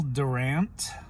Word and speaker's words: Durant: His name is Will Durant. I believe that's the proper way to pronounce his last name.